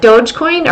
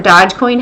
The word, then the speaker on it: Dogecoin: week we saw that dogecoin or dodge coin however you like to pronounce it went from number seven